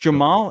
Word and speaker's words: Jamal: Just Jamal. It's pronounced Jamal straight up.